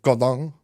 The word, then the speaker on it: Godin: Which obviously you have to pronounce the proper French way of Godin.